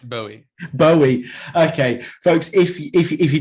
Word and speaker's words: Bowie: How do you pronounce it? Is it Bowie or Bowie? It's Bowie.